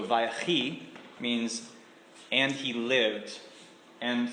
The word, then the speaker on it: Vayechi: So the Vi part, the V sound at the beginning, is kind of like the Hebrew's version of the word and. So Vayechi means and he lived.